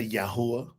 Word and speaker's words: Yahweh: Say Yahweh. And then you'll go, that's how you pronounce these ancient Hebrew letters.